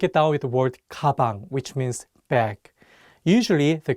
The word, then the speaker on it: 가방: Let's break it down with the word 가방, which means bag. Usually, the consonant 기억 sounds like an English G. However, if it's at the beginning of the word, it takes on the English K sound, 가방.